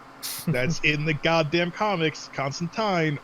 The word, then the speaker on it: Constantine: in the goddamn comics constantine rhymes with fine it's in hellblazer dc